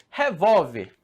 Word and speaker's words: revólver: Então, oxítona marca essa tonicidade na última sílaba. Se a gente for falar agora, palavra revólver.